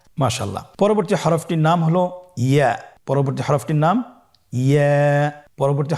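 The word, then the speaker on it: ياء: পরবর্তী হরফটির নাম হল ইয়া পরবর্তী হরফটির নাম ইয়া পরবর্তী হরফটির নাম কি ইয়া ইয়া হরফটি উচ্চারণের ক্ষেত্রে বারিক হবে এবং এক আলিফ টেনে পড়তে হবেইয়া আবার বলুন ইয়া ইয়ার মাখরাজ কোন জায়গা থেকে উচ্চারিত হয়?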